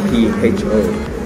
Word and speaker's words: pho: And actually pho is called P-H-O, but before I used to say I used to pronounce it as po, but I soon realized that it's actually pho because it comes from the Vietnamese language.